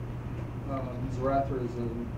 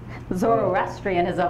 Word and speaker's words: Zoroastrianism: Because, you know, before Zoroastrianism, which I know I butchered it. Zoroastrianism. That's it, yes, thank you.